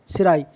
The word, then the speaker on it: cerci: Last abdominal segment contain a pair of, ये ऐड काट देंगे, सिराई, CERCI। इसकी जो स्पेलिंग है बेटा वो एक बार देख लेंगे,